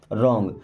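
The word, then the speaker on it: wrong: Okay, मी means मुझे, रॉन्ग। अब देखिए कभी भी अगर डब्ल्यू के बाद में आर आ जाए तो डब्ल्यू हमारा साइलेंट लेटर हो गया, यानी कि इसको पढ़ा नहीं जाएगा।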